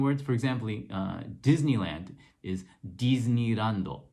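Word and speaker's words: ディズニーランド: And so what they do to spell that one is they actually spell it with a de and then a small I to indicate that it's supposed to be a D sound.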